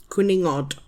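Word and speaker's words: cwningod: C W N I N G O D quuningod.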